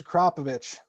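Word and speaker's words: Akrapovič: I have Akrapovic, Blur Optics, Pronounce Akrapovich.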